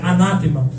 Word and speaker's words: anátema: Senhor seja anátema anátema a palavra a pronunciação correta é anatema Maranata que quer dizer